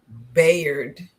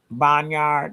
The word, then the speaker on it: Bayard: for today what is his name friend Bayard. His name is Bayard Rustin. Now I didn't want to mess it up because I've been calling him Boneyard or Bun Bayard Bayard.